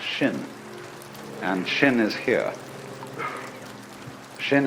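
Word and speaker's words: 心: mind in Chinese mind is um this word pronounced shin and shin is here Shin is the heart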